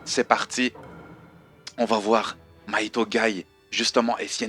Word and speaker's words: Maito: Mahito, avec la prononciation japonaise, Mahito, tu vois.